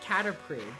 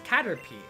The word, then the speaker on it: Caterpie: you know it's weird i always called it caterpriy was like after the p but it's caterpie yep where it's cutie pie but that's not